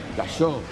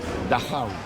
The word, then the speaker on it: Dachau: che ci porta a Dachau, Dachó o come si pronuncia realmente: Dajau.